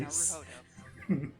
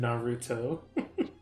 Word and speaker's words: Naruhodo: And then, in order to frame Ryunosuke no Hudo for the crime, Sorry, Naruhodo. sorry, it just... Naruhodo. I know, it sounded like you said Naruto.